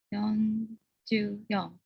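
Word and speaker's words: 四十四: Benar ya, tapi untuk 4 dibacanya yon, bukan si. Yon. Yonjuyon.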